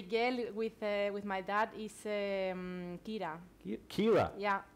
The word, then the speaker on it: Kira: And the girl with my dad is Kira. Kira? Yeah. How do you spell that?